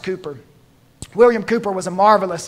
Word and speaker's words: Cowper: William Cowper, spelled Cowper, pronounced Cooper.